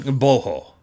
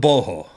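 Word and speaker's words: Gboho: As far as I understand, the G is silent, but it's also a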